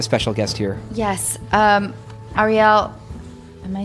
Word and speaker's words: Arielle: guest here yes um arielle am i saying that is it ariel kebbel or ariel kibble it's arielle arielle that is such a